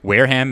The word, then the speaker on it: Wareham: briggs who was born in wareham am i pronouncing it right yes you are wareham massachusetts thought may and our massachusetts listeners would